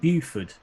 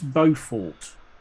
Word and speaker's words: Beaufort: And how did he pronounce it? Well, he got Gyre right, but what he called it Buford. Buford Gyre. It's Beaufort.